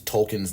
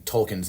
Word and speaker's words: Tolkien: where we learn about how to properly pronounce tolkien's name um I personally felt like a true piece of um for being a bigoted white man and mispronounce anouncing token's name all those years and saying token that